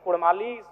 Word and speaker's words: कुड़माली: मांग करता हूं कि र के स्थान पे अड़क किया जाए क्योंकि कुड़माली साहित्य की बात करें तो अड़ का महत्त्वपूर्ण स्थान है जैसे काड़ा माड़ भेड़ा पीड़ा डाढ गौड़ मोड़ ये उच्चारण केवल कुड़माली साहित्य में ही संभव है अभी अगर इसका